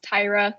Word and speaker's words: Tyra: i hope it is tire can you speak up are you a woman yeah and it's pronounced tyra you're good just like the easter egg e sounds okay there we